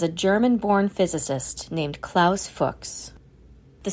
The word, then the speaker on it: Fuchs: solution for English speakers pronounce it to rhyme with books as a college student in Germany Fox had watched the rise